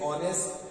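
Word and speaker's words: honest: ये H silent होता है दोनों जगह, जैसे ऑनेस्ट, आवर।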